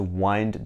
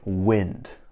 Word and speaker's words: wind: week at work so he needs time to winded down this weekend now I want you to be really careful this verb is not pron anounced like wind which is blowing in the air it's pronounced